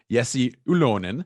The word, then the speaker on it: Jesse Ylönen: my guest second round pick of the canadians yessi oolon who nicely he was very nice and he taught me how to pronounce his name so um thank you yesi